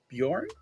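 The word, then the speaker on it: Björn: pronounce your name correctly bjorn is i would say it's the the english pronunciation okay okay so how would i okay so the typical english pronunciation what what is the the official like if i'm going to try the official and incidentally it is also like the the swedish word for bear oh so uh yeah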